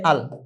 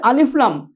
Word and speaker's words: ال: মুতাহরিক ইত্যাদি এটা ইসিমের আলামত হিসেবে বলা হয় তো শুরুতে আলিফ লাম এই আলিফ লাম এভাবে বানান করলে হবে না কি বলতে হবে এই মিমের মত আল বলতে হবে যদি আমি আলিফ লামকে